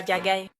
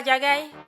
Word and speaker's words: Ladjagaï: Exactement, cet idiot de la Diagaï. Ah, c'est comme ça qu'on prononce son nom. Oui, la Diagaï.